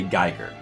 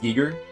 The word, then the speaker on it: Giger: Um who who of us used to say Geer? Because I used to say Geer because I didn't know any better. Do you guys still say Geer? Does anyone not know that it's supposed to be pronounced giger?